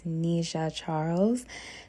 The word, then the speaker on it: Nisha Charles: that she deserves and to also correct the pronunciation of her name it is Nisha Charles Nisha Charles is not